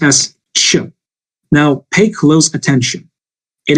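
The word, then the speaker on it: Ч: how to what can I all say it's pronounced as Chu now pay close attention it is not thick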